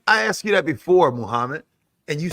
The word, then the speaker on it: Muhammad: G, it's Muhammad. What? It's like the same way that you say Muhammad Ali. Muhammad. Mohammed. I asked you that before, Muhammad, and you said no.